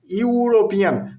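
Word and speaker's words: European: ইউরোপিয়ান শব্দের প্রথম বর্ণ হচ্ছে ই, যেটি একটি ভাওয়েল, কিন্তু ই এর উচ্চারণ এখানে কিসের মতো হয়? ইউ এর মতো। ইউরোপিয়ান।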